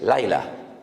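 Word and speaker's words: לילה: Ya sé que les causa risa, pero es que estoy pronunciando la palabra sol. Shimshon, sol. Y Dalila, la palabra noche en hebreo es Laila.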